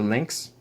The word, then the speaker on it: Liinx: It's called the Liinx, but it's spelled Liinx because it's got a Wii in it.